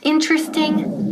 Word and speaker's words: interesting: Nunca decimos interesting, por favor, please, no. Interesting, eso es típico de Spanish. No. So, interesting. ¿Quedan qué? 3 sílabas. Interesting.